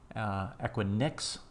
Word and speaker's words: Equinix: one here the next one is a quick Equinix is the pronunciation I believe and if we look at